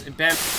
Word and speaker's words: Benoit: People have been, there have been some people who have been very frustrated that I haven't been pronouncing his name right. Yes, Chris Benoit.